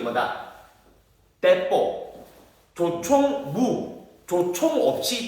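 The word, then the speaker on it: 鉄砲: 이 우리나라에서는 조총, 나는 새도 떨어뜨린다고 조총이라 부르지만 일본 애들은 뭐라 부르냐면 대뽀라고 불러. 대뽀. 대뽀가 뜻이 뭐냐면 철을 대뽀라고. 대뽀. 일본 발음으로 대뽀.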